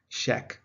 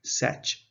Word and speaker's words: sech: Hyperbolic secant in the British environment is pronounced sheck. That's the short version, sheck. It rhymes with the word deck. In America, it is pronounced setch. It rhymes with the word fetch.